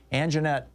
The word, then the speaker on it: Anjeanette: Anjeanette, first of all, I hope I'm pronouncing your name correctly.